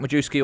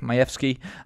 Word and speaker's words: Majewski: people pronounce it jack majewski or jack majeski um but he's polish and it's actually pronounced mayevsky um and this is